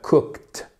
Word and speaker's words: cooked: que donc du coup comment on prononce le ed comme un T cooked cooked vous entendez Cook Cook